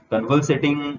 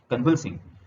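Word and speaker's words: convalescing: Now he is out of danger and convulsating rapidly. Here is a new word for you: convulsating. Convulsing. Its pronunciation is convulsing.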